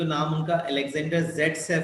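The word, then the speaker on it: Zaitsev: Alexander ज़ेटसेफ also pronounced as सेटजेफ, who formulated a rule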